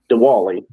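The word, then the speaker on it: Dwayle: It looks like DW, but it's Dewali Smith.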